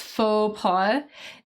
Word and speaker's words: faux pas: So I know the pronunciation of that is a little weird, right? We don't pronounce the X. It's faux pas.